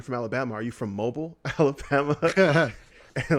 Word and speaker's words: Mobile: city there that is spelled Mobile. We all pronounce it Mobile in Alabama. But the first time I ever heard anyone pronounce it like correctly was when I moved to Seattle.